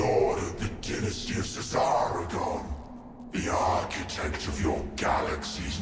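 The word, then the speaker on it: Szarekhan: So both the S and the Z are pronounced as Cesaragon, is how you say it, not Zaragon.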